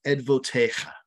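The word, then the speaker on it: עדותיך: And in Hebrew, it's pronounced edvotecha.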